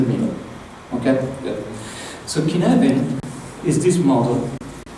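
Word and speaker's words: Cynefin: okay it's pronounced K the C is like a k and F is like a v k okay um it's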